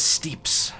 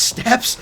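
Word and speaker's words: steppes: The Endless Steeps. Although it is actually pronounced steps. Now that I think about it, I always called them like the steeps. S-T-E-P-P-E-S. Is that pronounced as steps?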